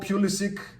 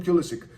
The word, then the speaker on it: Pulisic: he's Pulisic, like Doncic, you know, Jokic, not Jokic, not Doncic, and not Pulisic. But the guy wants to be called Pulisic, I'll call him Pulisic, just so you know the difference in the pronunciation.